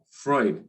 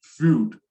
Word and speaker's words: Freud: talking about is sigmund freud so the name once again is sigmund freud we don't pronounce it as fruit okay and he is